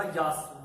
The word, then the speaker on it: Yaas: पहले सजेस्ट कर रखा है, और वो होगा यास, YAAS, जो यास आप प्रोनाउंसिएशन कर सकते हैं।